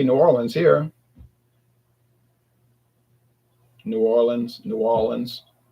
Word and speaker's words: New Orleans: Growing up, I never heard anyone say Norans. until the internet came around and people started saying that no say what is New Orleans like I never heard if you went to the if you came here in Louisiana you would never hear anybody say Norans except people from out of state they're like yeah we're